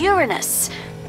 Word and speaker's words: Uranus: about Uranus besides that proper pronunciation is Uranus it's a dactyl sorry Friday hey and